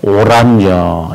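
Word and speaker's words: Oranje: 바로 오란여 이렇게 말합니다.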